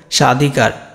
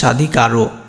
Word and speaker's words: স্বাধিকার: তাহলে কি বললাম, পদের শুরুতে যদি তোমার ব ফলা থাকে, একদম শুরুতে শব্দের শুরুতে যদি ব ফলা থাকে তাহলে সেই বটা উচ্চারণ হয় না। এটা কেমন দেখো, এখানে দেখো স্বাধিকার, এটা দেখো স্বাধিকার। তো স্বাধিকারে এখানে কি বললাম, যদি তোমার বটা থাকে তখন বটা প্রথম বটা কিন্তু আর উচ্চারণ হয় না।